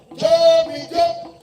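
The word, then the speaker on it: Jó mi jó: Just say, Jo mi jo. Break it down. Jo mi jo. Jo mi jo. Please, it's just 2 syllables.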